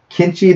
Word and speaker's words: Kenichi: I'll start off and say Kenichi, the history. Kenichi, not Kenichi. It's Kenichi. It's Kenichi. Okay. There's like however you want to pronounce it.